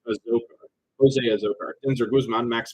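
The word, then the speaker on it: Azocar: And I think I say Azokar, it's pronounced Azokar.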